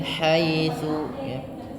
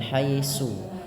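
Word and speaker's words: حيث: Tsa hati-hati dalam pelafalannya agar tidak terbaca dengan haisu tapi dia tsa.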